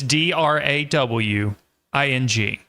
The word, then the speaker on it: drawing: And the way I say drawing, um, it is not drawing. There is no L in the word drawing. It's D R A W I N G. Drawing. Drawing. uh 101. Yes. And if if I I have a little bit of an extra W in that because that's because I'm from the south in the United States and that's how we speak down here.